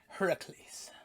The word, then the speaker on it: Heracles: figures and it's looking i'm using the proper pronunciation heracles and you know it that was what drew